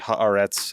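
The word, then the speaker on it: Haaretz: Um, everyone should read Harets.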